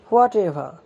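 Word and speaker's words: whatever: এখানে এভার উচ্চারণ হবে না, এখানে উচ্চারণ হবে এভা, কারণ ভাওয়েলের পরে যখন আর থাকে তখন আর এর উচ্চারণ হয় না, তাই এটার উচ্চারণ হচ্ছে হোয়াট এভা।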